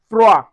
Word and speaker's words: froid: Also, D, we don't pronounce D. We have froid. Froid. We don't say froid. We say froid.